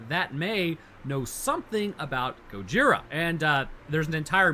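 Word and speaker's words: ゴジラ: bay that shouldn't have been fun fact uh Gojira is actually just a combination of the kanji for gorilla and whale so the kanji reads as gorilla well but it's pronounced Gojira huh but you know weed in America had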